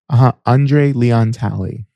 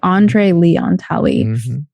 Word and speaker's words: Andre Leon Talley: And how do I pronounce the second person's name? Andre Leon Talley. Okay, Andre Leon Talley.